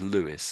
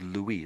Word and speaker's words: Louis: Sometimes they will say this name as Lewis and sometimes they will say it as as Louie the French way.